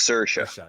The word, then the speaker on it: Saoirse: Oh, it's pronounced Saoirse. Yeah. Saoirse? Oh, my bad. Okay. Saoirse.